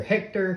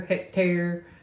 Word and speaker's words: Hectare: the cjrb hectare okay at least that's how I'm pronouncing it is he either Hector hectare I think it's more of hectare now they these come